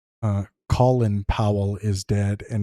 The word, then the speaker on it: Colin: Colin says uh Colin Powell is dead and he pronounced it colon colon Powell.